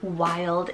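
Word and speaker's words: Wylde: We have the neutral pair here, Wild and Sage.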